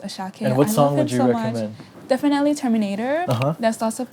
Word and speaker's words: Asake: uhhuh a s a k e but it's pronounced ashake definitely Terminator there lots of pigeon language in